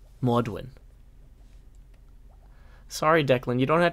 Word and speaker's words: God morgen: It's pronounced Maudwin. Maudwin.